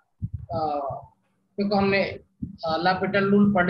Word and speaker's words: L'Hospital: पढ़ लिया है ना, एल हॉस्पिटल रूल। ओके, तो उसमें क्या करते थे एल हॉस्पिटल रूल में? एल हॉस्पिटल रूल, एल इसमें एच ओ एस साइलेंट होता है, इसको लापिटल रूल बोलते हैं।